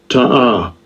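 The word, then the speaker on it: תָּעָה: Ta'ah. Alright, now let's see what it says now. That's how you pronounce it.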